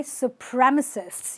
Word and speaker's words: supremacists: are called supremacists okay supremacists you have to stress this part you'll say that guy